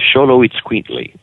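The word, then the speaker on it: Xoloitzcuintli: have to say it you have to sound like Ricardo montabon when you say it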